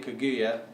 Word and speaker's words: Kaguyu: So I got a Kenya Kaguyu, I believe that's how you pronounce it.